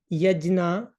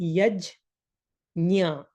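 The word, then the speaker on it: यज्ञ: So nya sound should come instead of na. So this is not yajna, this is not yagya, but if you try to pronounce it exactly, yajnya, yajnya, and if you do it fast, yajnya, yajnya, yajnya, yajnya. So the sound will come yajnya.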